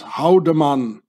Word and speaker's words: Haldimand: name very very well in swiss german you pronounce this haudemann howen it means to hit or to strike haudemann you know nazi templars to swiss mercenaries but let's say haldiman remember that very very